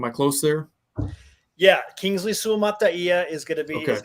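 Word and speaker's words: Suamataia: and maybe you can help me with the pronunciation your best offensive lineman Kingsley swamataya am I close there yeah Kingsley suomata is going to be is going to be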